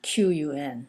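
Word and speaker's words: 裙: then it's pronounced Rin Qun as I said Q in Chinese is pronounced like CH heart ch ch ch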